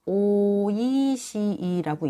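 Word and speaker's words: 美味しい: 일본에서는 오이시이라고 읽어요.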